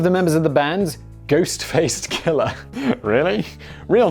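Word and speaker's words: Ghostface: killer is is oh it's ghost face ghost face not ghost faced it's also tricky to pronounce ghost face killer k-l-l-a-h not er because you know i'm sure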